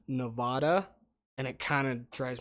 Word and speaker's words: Nevada: Nevada or Nevada? It's definitely Nevada.